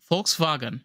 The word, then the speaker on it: Volkswagen: it's folks folks right FKS vagen yeah folks Fagen yeah the W is a V and it's just like